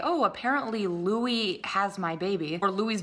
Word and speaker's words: Louis: have said Louis, like he would have known his actual name. But the fact that this guy didn't even know how to pronounce Louis's name is just proof that he doesn't know this fandom, he doesn't really know the boys, so he probably just read Louis's name and just said Lewis.